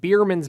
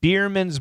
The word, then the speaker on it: Biermann's: word customers patrons at biermann's bar yeah I love the name because it sounds like beer man's yeah it does but